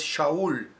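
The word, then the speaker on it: שאול: Su correcta pronunciación, la pronunciación original es Shaul, igual que el nombre del primer rey de Israel, Saúl.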